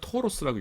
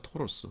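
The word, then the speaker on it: Taurus: 근데 영어식 이름으로는 토로스라고 읽죠. 토로스.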